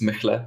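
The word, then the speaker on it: Mehle: Well, Mele, or how you pronounce it. It's Mechle, but you know.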